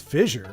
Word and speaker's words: fissure: Fissure is a long, narrow crack or tear. Was I not saying it correctly? I thought it was fissure. Fissure. Not like Carrie Fisher.